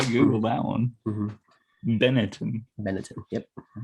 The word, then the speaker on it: Benetton: I don't even know how to pronounce it. Benetton. Benetton.